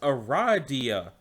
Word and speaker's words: Aradia: it is pronounced Aradia. Oh, I'm sorry. Aradia.